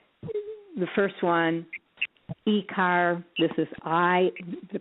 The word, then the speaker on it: akr: trust yes uh trust has the three letters which is akr pronounced i car they're very fascinating because they their names end up like the first one e-car this is i the